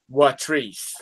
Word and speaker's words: Watrice: This young lady's name was Watrice. Watrice. And it's spelled like waitress. It's spelled like waitress, but it is pronounced Watrice.